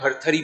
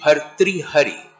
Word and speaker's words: भर्तृहरि: उसको गांव में जो है भर्तृहरि भी बोलते हैं। उसका सही उच्चारण है ऋषि भर्तृहरि।